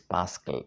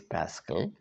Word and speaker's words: Pascal: That's why a great philosopher like Blaise Pascal, English pronunciation is Pascal, P-A-S-C-A-L, Blaise Pascal, French pronunciation is Pascal, says, except through Christ, I know not my birth, nor death, nor who I am.